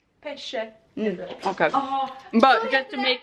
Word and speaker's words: pesce: Hon uttalade pepp, hur uttalade Oj, fisk? nu blev Stella väldigt kränkt. Vad heter det? Säg fisk. Pecce. Pesce.